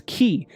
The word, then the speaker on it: chi: uh ancient Greek alphabet pronounced as as key and it literally means